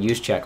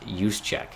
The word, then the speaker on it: Juszczyk: I was saying Juszczyk all last game, and someone's like, it's pronounced Juszczyk. Yeah, I'm fucking saying it.